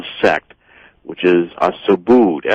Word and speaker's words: Subud: they're often called a sect which is a Subud Su b u d that's how that's pronounced as well I've been Su sub like